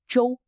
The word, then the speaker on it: 洲: Today, we learn the Chinese characters Zhou Zhou. Both characters are pronounced Zhou, but they have different meanings and are used in different types of words.